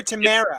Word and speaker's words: Tamara: I don't know why I pronounced it Tamara. Probably because of what's in the mug. But that she got me. But no, she's in her own room. Hi, Tamara. Wait, is it Tamara or Tamara? It's Tamara Galion.